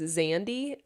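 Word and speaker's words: Xandi: It's spelled with an X. Zandy? Is that how you say it?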